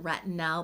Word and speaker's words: retinal: And I am saying retinal, pronouncing it with an A instead of an O, because I'm actually referring to a different ingredient than retinol, and that is retinaldehyde, also shortened down to retinal, spelled with an A.